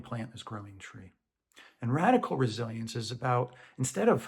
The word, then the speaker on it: radicle: Radical in this case isn't about being extreme. It's about taking inspiration from the natural world. In botany, r a d i c l e, radical, pronounced the same way, refers to the the